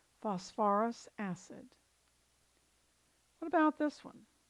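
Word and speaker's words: phosphorous: therefore this is now you're going to have to add an extra syllable for ease of pronunciation and this becomes phosphorus acid phosphorus acid what about this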